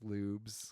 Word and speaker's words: Lubes: on lubs on Instagram it's not LS it's lubs it's Lubes pronounced the he's got an he's